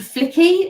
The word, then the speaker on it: Flicky: The next one is called Flicky. It rhymes with my name, so I like it.